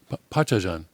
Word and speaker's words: Pachajian: And I'm joined now with Pachajian. Is that how to pronounce your last name? Oh, thank you. Pachajian. Pachajian. The accent is on the first syllable.